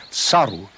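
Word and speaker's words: 去る: play on words and the written character for go away saru is pronounced in the same way as the character for monkey so the monkeys became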